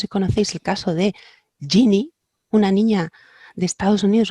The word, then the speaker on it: Ginny: se escribía, o sea, se escribe Ginny como genio en inglés, genie.